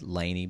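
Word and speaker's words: LANY: people go nuts it's it's spelled like capital la NY said Lanie but it's like la New York basically kind of like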